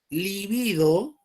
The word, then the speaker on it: libido: Libido, así se pronuncia.